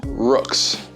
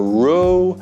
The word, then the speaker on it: Roux: getting into contact with rooks now that's how you pronounce it by the way it is rooks rooks helmets not rook or roe or any other combination it is rooks first